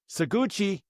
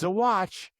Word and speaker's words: Saguache: Okay, we're changing counties here, and we are going to Saguache County, Colorado. Saguache County. Now, I had to look that one up because I want to say it's Saguache, but it's not Saguache. It's Saguache.